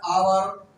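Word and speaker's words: hour: यहाँ पे एच से हमारा वो प्रोनाउंसिएशन होता है आवर, एच से प्रोनाउंसिएशन होता है हॉर्स। देखो यहाँ पे दोनों एच है, इसके अनुसार दोनों ही कंसोनेंट है, लेकिन अब हम प्रोनाउंसिएशन करेंगे, अब हम उच्चारण करेंगे तो यहाँ पे अ होता है और आवर है।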